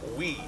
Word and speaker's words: wi: It's W-I, it's pronounced we.